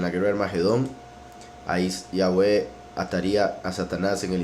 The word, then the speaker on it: Yahweh: Y se pronuncian Yahweh como 4 vocales, I, A, U, E, Yahweh. La Hei le da un poco de sonido como de una J muy suave, pero en sí Yosefo